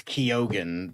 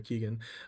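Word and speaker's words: Keoghan: Anyway, um apparently it's Kyogan. That's how he pronounces. So, Oh, okay. Well, I'll you know what, Barry? Barry, I'll I'll trust your pronunciation. Uh not what probably Caleb calls you. Caleb probably calls you Barry Keegan.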